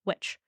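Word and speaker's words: Wittich: to mix things around a little bit but phonetically it's which is how it's pronounced some more in this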